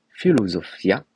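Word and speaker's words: φιλοσοφία: latin en grec pardon en grec ancien ça se prononce philosophia philio pardon ça veut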